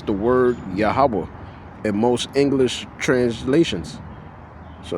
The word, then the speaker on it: Yahawah: Whenever you see the word Lord in caps, it's the word Yahawa in most English translations.